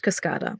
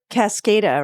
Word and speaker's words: Cascada: It's pronounced Cascada. But it looks like Cascada, right? Yeah, I think everyone thought it was Cascada. I thought it was Cascada until I went the first time and they were like, Cascada.